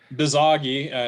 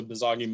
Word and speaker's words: Bizagi: I always mispronounce it, but Bizagi is how I pronounce it. I think it might be BizAgi because it's Business Agile is what it stands for.